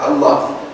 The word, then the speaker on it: Allah: Allah. They dropped the hamza and they merged this lam into the other lam. The lam, when it comes after the lam of al, do you pronounce the lam? No.